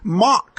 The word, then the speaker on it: Mach: He pronounced it pronounced it Mach, soft CH, and it should be Mach, hard K.